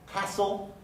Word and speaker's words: castle: d doesn't get pronounced castle you know the word castle but if you've noticed that the t doesn't get pronounced now you understand why